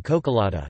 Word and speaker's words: čokoláda: mascara, eye makeup, mascara, long rising as in cocolata, chocolate, tea, oko el da.